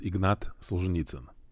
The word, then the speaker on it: Ignat Solzhenitsyn: a few different ways in Russian it's pronounced Ignat sanit okay and then we